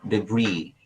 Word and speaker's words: debris: Yeah, stadium can be, but it's also somehow difficult in this example, but please focus on the word debris. That is silent S class, yung DEBRIS na word.